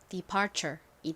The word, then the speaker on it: departure: 어떻게 되죠 의미는 뭔가요 먼저는 디귿 소리 나고이는 e 소리 나죠 는요 피읍 소리 나고요 은 R 소리가납니다 R 그리고요 t는 덩어리로 무슨 소리가 나죠 CH 소리가 나죠 연결해 보면 departure이 됩니다 departure departure 의미는 출발이 따라해